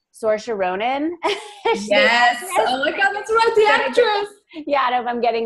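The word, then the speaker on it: Saoirse: I think I'm gonna say her name correctly sorsa sorsha Ronan yeah dope I'm getting that correct but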